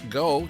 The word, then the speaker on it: Geaux: Let's go, GEAUX, they spell it.